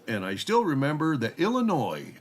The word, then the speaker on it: Illinois: Oh, and I still remember that Illinois does not have an S on the end of it uh when you're pronouncing it.